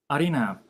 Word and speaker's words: Arina: Arina, am I pronouncing it right?